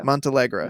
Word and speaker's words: Montealegre: The lifelong relationship of composer-conductor Leonard Bernstein and actress of Felicia Montealegre Con Bernstein. Did I butcher her name so badly? Yeah. Montealegre. Mm-hmm. Montealegre Cohn Bernstein. Yes. Here I am mispronouncing Bernstein's name.